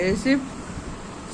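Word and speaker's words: receipt: अब देखिए यहां पर जो है पी P silent रिसीप्ट psychology और आपका निमोनिया जो कि मैं अभी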